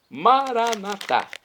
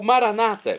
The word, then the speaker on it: Maranata: e eu clamo agora maranat como dizemos nós católicos ou Maranata como dizem nossos irmãos separados os evangélicos ou protestantes não importa a pronúncia o significado é o